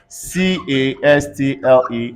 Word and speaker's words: castle: silence whenever you have s-t-l-e in a word c-a-s-t-l-e everybody say castle w h i s t